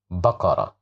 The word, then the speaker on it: بقرة: Here we have fatha, so that's why we pronounce it as ba, بقرة.